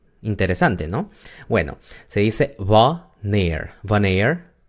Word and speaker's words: wanneer: Quiere decir que la A es corta porque está entre la W y la N. Si nosotros separamos esa palabra, no se puede decir wanneer en una sola sílaba. Se tiene que decir en dos, ¿no? Wanneer.